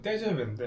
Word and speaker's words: TGV: TGV라고 네. 그 프랑스 발음은 떼잡인데 네. 아. 우리가 고속열차 처음 만들었고 KTX는 우리 거 모티브에서 만든 거잖아. 프랑스 친구들이 참 너무한 게 제가 저작권을 샀잖아요. 떼제베에 대한 저작권을 샀고 잘